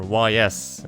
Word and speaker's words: Ys: Oh, and the Ys series, or YS as it's spelled, but pronounced Ys.